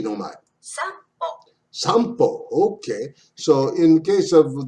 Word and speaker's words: 散歩: The N before B, M, and P is pronounced like M in the word sample. Most foreigners don't detect that sound. That's a nuance. So this is not sanpo, it's sampo. Like a M.